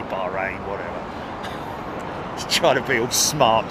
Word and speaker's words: Bahrain: bravo it is the Bahrain uh Royal flight it is a Bahrain Royal flight um I say bahain because that's the way they say is it or just say Bahrain whatever try to build